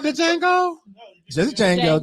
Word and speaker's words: Django: Isn't that called the Django? Just Django. The D is silent.